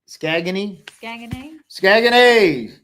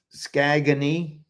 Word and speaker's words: Saguenay: So let's talk about Saguenay.